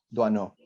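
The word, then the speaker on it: Doisneau: Duano.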